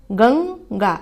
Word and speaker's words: गंगा: गंगा का भी उच्चारण कीजिए आप, गंगा। यहाँ पर भी जब गंग का उच्चारण कर रहे हैं तो अंग, न जैसी ध्वनि साउंड आ रहा है, तो यहाँ पर भी AN का यूज होगा।